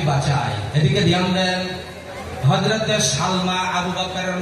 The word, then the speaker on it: সালমা: আবু বকরের নাম হচ্ছে মায়ের নাম হল হযরতে সালমা জোরে বলেন নাম কির নাম জবর সাল মিম খারা জবর মা। কিরে উচ্চারণ?